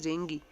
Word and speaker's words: dengue: Suppose you must have heard about dengue and malaria. In actually its pronunciation is dengue, but Hindi में बेटे इसे डेंगू कहते हैं.